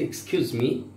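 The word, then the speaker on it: excuse: এক্সকিউজ মি আমরা সচরাচর এটা এক্সক্লামেশনে বলি যে এক্সকিউজ মি, আমাকে ক্ষমা করবেন, যদিও জানো এটা প্রোনাউন্সিয়েশন দুইটা আছে, একটা এক্সকিউজ একটা এক্সকিউজ, যখন ভার্ব হয় তখন এক্সকিউজ হয়, এক্সকিউজ মি।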